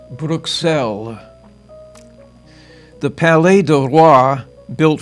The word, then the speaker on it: Bruxelles: Locally, the city's name is pronounced Bruxelles.